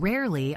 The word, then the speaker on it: rarely: Make sure to clearly pronounce both R sounds.